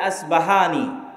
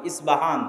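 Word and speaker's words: اصفهان: প উচ্চারণ করি ইসপাহান আরবিতে এটা উচ্চারণ হয় না আরবিতে হয় আল আসবাহানী বা উচ্চারণ হয় ইসবাহান বা আসবাহান সেখান থেকে 70 হাজার ইহুদি দাজ্জালের সঙ্গী হবে সাথী হবে এবং মুসলমানদের বিরুদ্ধে যুদ্ধ করবে।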